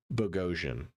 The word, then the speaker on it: Bogosian: But okay, so that rhymes with explosion. So Bogosian.